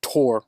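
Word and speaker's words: Thor: patch is in the four pronounced Tor originally but in English four Marvel Comics and movie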